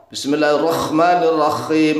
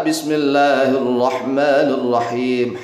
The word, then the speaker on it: Bismillahirrahmanirrahim: atau dibantikan menjadi ko Bismillahirrahmanirrahim pakai k kotor ya salah makna tapi enggak sampai musyrik yang benar Bismillahirrahmanirrahim ha ha itu bersih Bismillahirrahmanirrahim kalau seandainya bacanya bismillah